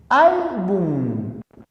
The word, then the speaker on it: álbum: terminada en n álbum es palabra grave como termina en m también lleva tilde diácono palabras esdrújula se